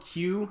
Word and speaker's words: QOO: Q. It's like Q, but you could use an app called Q app. It's I think it's spelled QOO. I think it's supposed to be Q.